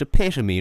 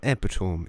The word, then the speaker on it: epitome: It's pronounced epitome, not epitome, idiot.